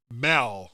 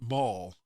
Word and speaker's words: mal: says that he pronounce pronounces it Mal not mul where like Mal content just being OCD waren